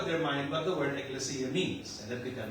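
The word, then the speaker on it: ekklesia: the word ecles Ecclesi going to pronounce it's a Greek word eclesia it means assembly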